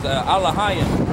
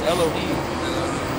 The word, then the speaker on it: Elohim: Which in the Hebrew says Alahayim, which they pronounce Elohim. Yeah, we're Elohim. We're Alahayim is the right way to say it.